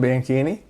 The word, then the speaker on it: Bianchini: care no yeah it's ch in Italian is supposed to be a k pronunciation I don't care bini